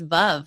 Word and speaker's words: Veuve: No, but do you know it's actually pronounced, I know you hate it when I say this, but it's Veuve, like love, but with a V.